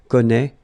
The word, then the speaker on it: connaît: Well, you pronounce these three forms the same way. Okay, connaît, connaît, and then connaît.